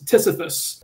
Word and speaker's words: TSFFS: And with this post, we wanted to introduce a tool we wrote called the Target Software Fuzzer for Simix, or TSFFS, which we pronounce as Sisyphus.